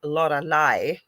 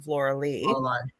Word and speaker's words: Lorilei: So he calls me Lorilei instead of Lorilei. Because that's how my name is spelled, actually. That's why I get called Lorilei all the time.